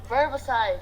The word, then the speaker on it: verbicide: It's got that soft C too. Instead of the C making the sound, it makes the like an S.